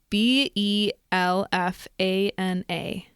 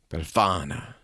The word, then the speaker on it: Befana: Spell it. Belfana. Befana.